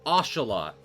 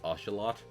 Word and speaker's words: axolotl: Well, I learned a while ago that apparently it's pronounced ocelot because it's derived from a... I mean, I might have been pranked, and now I'm like myself look like a butthole, but in the interest of trying to say things right and respect where the word came from, apparently it is properly pronounced ocelot.